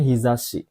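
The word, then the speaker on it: 日差し: Ini bacanya hizashi.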